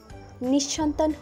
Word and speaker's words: নিঃসন্তান: অনেকেই উচ্চারণ করে থাকেন নিঃসন্তান, সঠিক উচ্চারণ নিঃসন্তান। বৃদ্ধ দম্পতি নিঃসন্তান হলেও অনাথ শিশুদের সাহায্য করেন।